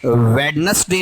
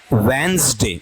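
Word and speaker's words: Wednesday: Definitely आपको वहां बताऊंगा ये वेडनेसडे नहीं है, वेनसडे भी नहीं है, क्या है, वेंसडे, जय साउंड है, ठीक है, वेंसडे।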